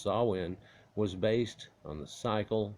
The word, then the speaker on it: Samhain: Samhain, pronounced Samhain, was based on the cycle of the pagan Wheel of the Year.